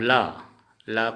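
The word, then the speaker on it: ল: अब ल को हिंदी में ल, लेकिन असमिया में इसका उच्चारण होगा लो। लो, असमिया में ल का उच्चारण लो होता है।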